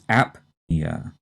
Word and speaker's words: apnea: heard of before and here the stress is on the first syllable and we strongly say the p and this is apnea a-p-n-e-a and based on